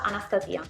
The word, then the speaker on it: Anastasia: Dalla regia mi dicono che si pronuncia Anastasia, come anestesia.